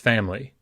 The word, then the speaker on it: family: The word family is often pronounced family because that I reduces.